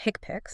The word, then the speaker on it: HCPCS: First, there's the healthcare common procedure coding system or HCPCS, often pronounced hickpicks.